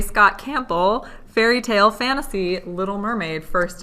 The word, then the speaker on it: Campbell: to say his name Campbell Campbell yeah it's like the camp Pole but um this has